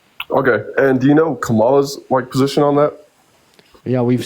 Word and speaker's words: Kamala: Also, it's pronounced Kamala.